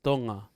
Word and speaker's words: Tonga: know the way americans okay so yeah proper pronunciation is tonga but out here they call it tonga that's right tonga like you have a togo or whatever but